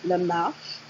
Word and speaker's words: Lamarche: So this is Lamarche, let me just say it properly, Lamarche, because I intended the name to be French.